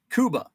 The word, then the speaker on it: Cuba: it says Cuba Cuba The Fulton County City mirrors the Spanish not English pronunciation of the island nation okay so it is